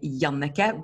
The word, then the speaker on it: Jannicke: you before, like Jannicke, like in Norwegian we say Jannicke, but no one can say it like that. And I understand it. So I just say, just think of Hanukkah, just say Jannicke.